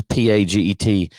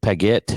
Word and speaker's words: Paget: research and this investigation i don't know how you pronounce it because i don't speak french it's p-a-g-e-t paget paguette sure so it's called operation